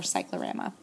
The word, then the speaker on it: cyclorama: sort of wash against the uh backdrop or Cyclorama um and that's spelled c y c c cry c y